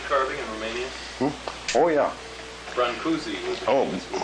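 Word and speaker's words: Brâncuși: Brancusi was the Oh, famous wood carver. Brancashi. That's the real name. Pronounce it Brancashi? Brancashi, yeah.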